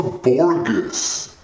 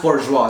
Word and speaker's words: bourgeois: for today mr wang mr wang what's a borgus oh my gosh me from the past it's pronounced bourgeois so guys just get with the show already